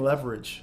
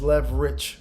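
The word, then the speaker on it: Leverich: you say it right you say it's not like you're saying leverage like you know leather rich just lev rich park they know that i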